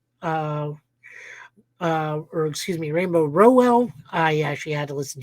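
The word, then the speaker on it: Rainbow Rowell: by rainbow R uh uh or excuse me rainbow Rell I actually had to listen to an interview to get her name pronounced with art by Andreas galante or yeah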